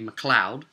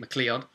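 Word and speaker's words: MacLeod: I wrote to Kevin, I believe the surname is actually Mloud. I was pronouncing it mccleod.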